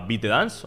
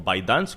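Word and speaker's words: ByteDance: que es una empresa que que se llama bit Dance o by Dance como lo queráis pronunciar Esta es la empresa fundadora de tiktok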